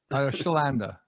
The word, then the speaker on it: Chlanda: because i didn't want to mess it up schllanda okay shalanda and my first name is spelled funny too so you know it's a